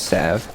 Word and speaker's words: salve: He's got a salve. Don't worry. He has now salvaged the lane with that salve. Did you know the actual pronunciation is Sav?